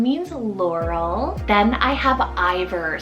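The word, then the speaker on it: Iver: Then I have Ivor, spelled I-V-E-R for the boy side, Ivor.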